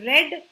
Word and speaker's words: read: वी से इट एज रेड, लेकिन spelling आपका READ ही रहता है.